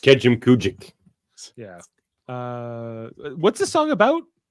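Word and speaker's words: Kejimkujik: Now pronounced Kejim Kujik.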